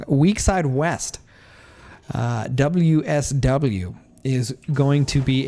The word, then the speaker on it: Weakside West: Now the question is going to be whether Westside Weak... that's not it. Again, I don't know why I keep saying his name wrong. Weakside West.